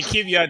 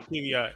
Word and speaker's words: Kvyat: Darius, I know Darius talked about Danny Kvyat debuted in NASCAR today.